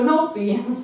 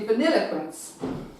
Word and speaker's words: Vanilliquence: She's kind of like as in the ice cream, but it's not spelled the same way as vanilla. It's actually spelled a different way, but it's pronounced Vanilliquence, and she's back at the stud.